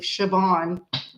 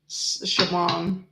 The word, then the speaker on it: Siobhan: I know it's spelled C S I O, but it's pronounced with an H, I believe. Siobhan. Siobhan.